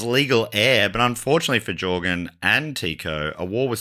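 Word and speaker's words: Jørgen: 1565, Jorgen, I'm saying Jorgen, I should have looked this up. Jorgen spelt with an O with the line through it. It does something to the O sound.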